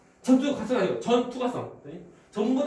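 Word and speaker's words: 전투과성: 그래서 우리가 세포병 경우는 우리가 어떻게 많이 표현하냐면 참고로 우리가 전부 다 통과하니까 우리가 말할 때 전투가성. 전투가성 이렇게 말해. 그래서 발음 잘 말하잖아. 전투 과성은 아니고 전투가성.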